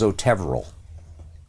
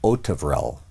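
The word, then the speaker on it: Otevřel: When he came, everybody thought it was Otevrel. He came and he said, no, my name is Otevrel. The stress on the first syllable.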